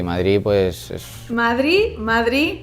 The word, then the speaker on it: Madrid: madrid pues es madrid madrid claramente con ausencia de sonido después no hay ninguna de y es una ciudad